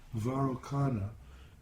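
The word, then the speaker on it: Vairocana: comes out of each one of these seed syllables varukana is the the correct name varukhana is the correct name of the buddha that's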